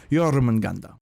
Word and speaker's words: Jormungandr: his name now that I know how to pronounce it. Jormungandr.